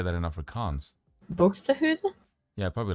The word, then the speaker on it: Buxtehude: Buxtehude? Yeah, probably like that. I don't know either. Yeah, that sounds more Swedish than it does. That sounds more Scandinavian than it does. Buxtehude.